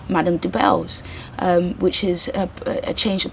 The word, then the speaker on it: Debelle: designer, and her clothing line is called Madame Debelle's, which is a change of pronunciation of her surname, Debelle.